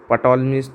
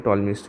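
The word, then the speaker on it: Ptolemy: पटोलस theorem इसे नहीं कहते हैं। टॉलस थोरम कहते हैं।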